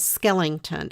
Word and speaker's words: Skellington: it's been years but it was Skellington s-k-e-l-l-i-n-g t-o-n and that's how they pronounced it in the book and I've said it ever since and it is so hard for me to make myself say skeleton the proper way so if you ever